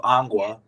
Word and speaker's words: Angua: this place but it's actually called Anga so that's the way you pronounce it and he was the